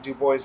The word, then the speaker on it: Du Bois: the name of WEP Dubois and yes it's pronounced Dubois map to Gua we know that because he